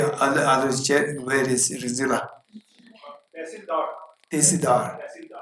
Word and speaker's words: Tehsildar: Tehsildar. Not Telsi. Tehsildar. No, I will check with Rizila. I don't trust others. I want to go the route. Tehsildar.